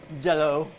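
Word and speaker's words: Jell-O: celebrate your glorious j-e-l-l-o it's a company that rhymes with hello it rhymes with mellow it's called jello jello but you can also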